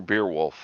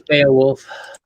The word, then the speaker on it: Beowulf: Is it Beowulf or Beerwolf? I pronounce it Beo. Maybe it's Beo. Probably Beowulf. It is Beowulf.